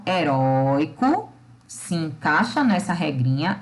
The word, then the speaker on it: herói: E eu tenho a palavra herói, é da mesma família, porém o herói, eu tenho o ROI, que é a sílaba tônica, e que agora está em uma palavra oxítona. Heróico, paroxítona, herói, oxítona.